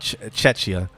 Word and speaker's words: Czechia: Oh wait, or are we talking about Chechia? Czechia.